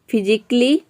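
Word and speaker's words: physically: लॉजिकली, फिजिकली, क्रिटिकली, तो इन सभी में आप देख रहे हैं कि ए के बाद डबल एल वाई आ रहा है।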